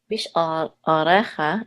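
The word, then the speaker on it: בשעריך: Yeah, the deeper the better. What do you mean deep? I don't understand what you mean by deep. It should come from not the back of your mouth, but like in your throat.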